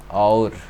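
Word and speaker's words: ağır: word like for example our our this means heavy heavy this G is not pronounced this G is not pronounced as you shall our it means heavy so you have other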